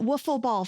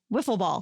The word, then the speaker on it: Wiffle ball: ball oh my god i've been calling it waffle ball for a long time ooh and maybe that's why people don't know what i'm talking about i said woof it's not whiffle ball it's spelled with an eye w-i how often are you